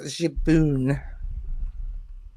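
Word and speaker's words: 自分: That's the Japanese word for myself. And it's pronounced Jaboon.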